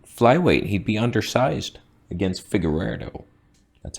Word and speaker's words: Figueiredo: The whole, like, even flyweight, he'd be undersized against Figueiredo. That's how you pronounce that.